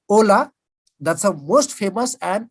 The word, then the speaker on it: hola: And what is the spelling of hola? Why don't we say hola? We say hola. Because in Spanish, H is never pronounced.